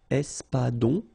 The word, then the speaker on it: espadon: O-N in your nose, nasal. On. Espadon.